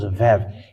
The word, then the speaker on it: Vav: It is called Vav. It is pronounced as V, and this is how we write it in Hebrew.